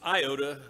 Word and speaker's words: iota: iota not one iota i like to pronounce it iota so it's distinct from the hero in star wars yoda sounds too much like him but that letter is